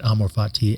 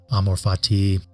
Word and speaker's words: amor fati: exactly how it's pronounced I have heard it pronounced in many different ways amorfati and so on but amorfati is how uh it just sort of rolls off the tongue for me so that's how I pronounce it you can pronounce